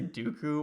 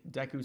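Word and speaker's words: Deku: sorry deu scrubs sorry I say Dooku when I was a kid that's how me and my brothers pronounced it despite it like that's just Notre correct pronunciation we were just kind of dumb and I was just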